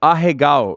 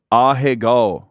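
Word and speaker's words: ahegao: ] American you're like how do you say it oh hey go so maybe if I maybe if I put some respect on it he would yeah oh hey go this is like he didn't know what it was you were saying it wrong do you know what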